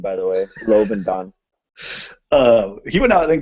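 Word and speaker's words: Lobendahn: Lobodendon. Yeah, Lobodon. There's like an extra syllable I always mess up. It's a great name, by the way, Lobodon.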